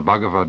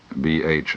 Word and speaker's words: Bhagavad: In 1925, Mahatma Gandhi wrote the following words: "I find a solace in the Bhagavad Gita that I miss even in the Sermon on the Mount.